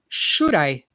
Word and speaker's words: should I: the pronunciation here okay should I all right so we say these two words together here should I should I right in the D sounds like an R here so it become like